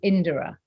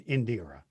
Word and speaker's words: Indira: mean it is the the rhythm is indora okay so it's closer to indra than indira yeah indira duly noted